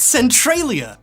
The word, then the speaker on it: Centralia: It's actually pronounced Centralia!